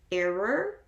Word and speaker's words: error: So when I don't think about it, if I want to say the word error, I usually say era. Oh, there was an error in the file. But that is just where I come from, and that is not the common or the proper way to pronounce it.